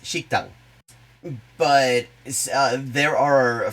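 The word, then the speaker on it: 식당: worth noting like shokudo exists in korean it's pronounced shikhtang but uh there are a fair number of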